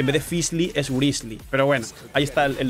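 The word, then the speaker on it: Wriothesley: dicho su nombre y literalmente ha dicho que se pronuncia grizzly Así que va a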